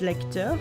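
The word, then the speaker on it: lecteur: it's a player and in french it's lecture like lecter what does that even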